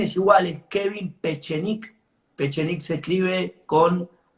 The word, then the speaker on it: Pechenik: Pechik se escribe con P e C e N I K.